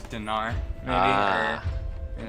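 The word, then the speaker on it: динар: You said it's pronounced it more with an E. Yeah, Dinar. it would be like dinar.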